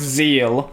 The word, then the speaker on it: Zexal: Sorry, it's pronounced Zeal, even though it's spelled with an X in it.